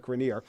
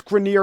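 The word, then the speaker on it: Grenier: doing in his career I guess I owe it to myself to say it like grineer and he's been fine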